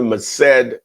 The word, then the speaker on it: Merced: I have my man Luis out of California, Merced, California.